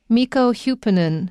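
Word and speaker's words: Mikko Hyppönen: mikko hupanen hupernin and the way his name is spelt doesn't sound like how it sounds because it's not using english representation to represent these sounds it's using finnish representation so these are how the finnish people use these letters to represent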